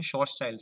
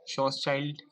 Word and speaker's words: Schwarzschild: Class of radius बोलते हैं जिसका नाम है शॉर्टचाइल्ड रेडियस.